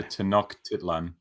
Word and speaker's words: Tenochtitlan: I know the CH is a hard K. Okay. So Tenochtitlan. All right.